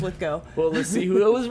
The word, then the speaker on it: Lithgow: And that's why I remember it rhymes with Arsenio. It's Lithgow.